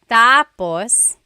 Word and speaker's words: tapos: endos that means finished when the emphasis is on the first syllable tapos then it means next interesting there very interesting